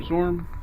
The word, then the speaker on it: Zorm: my name is daniel i often go by the moniker zorm in case you're wondering how to pronounce that today i'll be playing